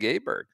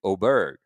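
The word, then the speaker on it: Åberg: Uh, we got to meet Ludvig Aberg uh or Ludvig Oberg. We got a couple pronunciation guides from uh some Swedish friends on Tuesday. Uh, Ludvig Oberg. Lud Ludvig Oberg.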